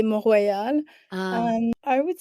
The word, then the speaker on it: Mont Royal: don't know if it's Mount Royal or Royale. I don't know how you say it, but which would you Yeah. prefer? So in English, we say Mount Royal, in French, we'll say Mont Royal.